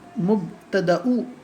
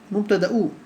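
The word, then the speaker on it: مبتدأ: It is actually mubtada'u, okay, with the alif, with the hamza, okay, mubtada'u, okay.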